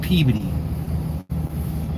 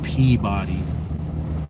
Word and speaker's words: Peabody: We're at the pickup in Peody. I don't I don't usually pronounce it that way. It's Peabody as far as I'm concerned.